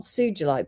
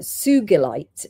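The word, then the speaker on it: sugilite: it was pronounced uh sugulite because it's named after a Japanese man called Mr. Sugi.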